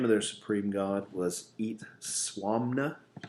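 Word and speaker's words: Itzamna: their supreme god was eat suam 'no eat swami 'no okay which does not look anything like how it's spelled which is itz ama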